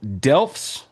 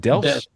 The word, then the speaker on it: Delft: And a postdoc at TU Delfts. Is it Delfts?